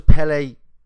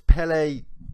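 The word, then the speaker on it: Pelé: in the little bubble but his name was Pelle Pelle it's it's Pelle Pelle four letters pellei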